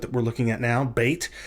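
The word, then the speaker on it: בית: we're looking at now, bait. Without the Dagesh, it's pronounced like a V sound. With the Dagesh, it's pronounced like a B sound.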